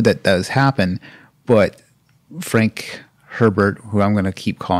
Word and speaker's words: Herbert: But Frank Herbert, who I'm going to keep calling Frank Abear because Herbert is pronounced Abear in Louisiana.